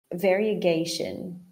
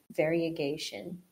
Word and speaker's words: variegation: So, variegation. It's kind of almost like two vowel sounds there in the middle where we have that I and the E. Variegation.